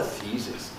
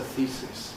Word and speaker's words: thesis: known as a thesis, this word gives problems for the same reason. It's not a thesis, but it's it's a thesis. Thesis. The e e e e thesis. Thesis, like teacher.